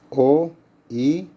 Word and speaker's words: oikos: Bien, la ecología, ecología es una palabra que deriva del griego oikos. Se escribe, yo diría que lo pongan entre comillas y con mayúsculas, O-I-K-O-S, oikos, que significa casa o lugar donde se vive.